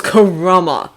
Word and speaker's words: Karama: book i stuck right it's karama karama says with some annoyance if you can manage three syllables shark face that would